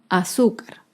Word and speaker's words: azúcar: penúltima sílaba por ejemplo la palabra azúcar azúcar es una palabra grave y se acentúa en la penúltima sílaba azúcar las palabras graves nos